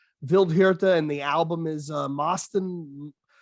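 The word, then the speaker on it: Vildhjarta: know if i say that name is it phil jaharta uh vildevilled i think it's vildejirta i actually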